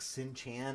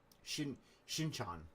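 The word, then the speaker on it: Shin-chan: You like Sin Chan as a kid? Who's Sin Chan? I don't know Sin Chan. Shin Chan. Shin Chan? I want to make sure I pronounce it correctly.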